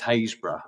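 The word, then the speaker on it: Harrisburg: know where you guys are based this is hazb um which is sp harisburg um but it's pronounced hazb um excuse me sorry um you said actually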